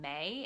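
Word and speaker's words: Mae: available on iTunes, and the band is called May. It's spelled M-A-E.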